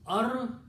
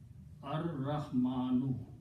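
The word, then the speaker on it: الرحمن: ra in the tajweed, the ra and lam, when they come together, the ra kills the sound of lam and is pronounced twice, ra. So it becomes Ar-Rahmanu. Al is pronounced as a ra. So what you do? You put a shadda on this. Okay, so this is pronounced as Ar-Rahmanu. Okay, no harakat on lam. Okay, lam becomes silent, ra becomes twice.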